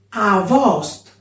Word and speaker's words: Avost: Avost e no agost. Avost.